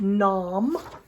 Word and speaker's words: Nam: So first syllable is Nam.